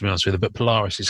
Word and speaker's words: Polaris: I wasn't sure who it was, to be honest with you, but Polaris is how you say it.